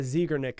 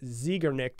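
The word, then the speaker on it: Zeigarnik: was it's called the I've heard many different ways when I was researching this but I'm going to say the zigger Nick effect so zigger nicked effect is basically how you say it it was uh first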